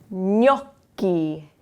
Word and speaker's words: gnocchi: So we have the GN sound, we have double C's, and then the C is followed by an H.